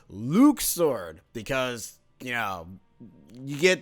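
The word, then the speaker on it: Luxord: ah there he is this is luke sword not luck sword luke sword because you know you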